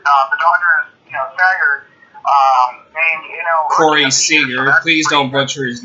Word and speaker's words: Seager: It's Corey Seager. Corey Seager. It's not Sager.